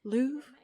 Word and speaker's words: Louvre: the L the how do you say it Lou the museum place that's made of glass went